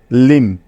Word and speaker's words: limb: এখন বাকি আছে বি, যাকে পড়া যাবে না, অর্থাৎ বি এর কোনো উচ্চারণ হবে না এখানে, তাই তো? সুতরাং ল, ইকার, ম এদেরকে একত্রে যোগ করলে হয়ে যাবে লিম, লিম।